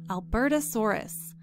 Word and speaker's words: Albertosaurus: to a dinosaur called albertasaurus notice in parentheses it's showing us how to pronounce that word so we can see how it's broken up into syllables notice how the s-o-h-r is in capital letters that tells us that